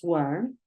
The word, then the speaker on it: warn: If you don't know how to pronounce warn, look at this, warn, warn. Warn. It's like a O sound.